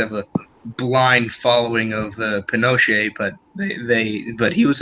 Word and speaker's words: Pinochet: ii know how you spell that's how you pronounce his name yeah Pinochet it's a soft tea but it's a it's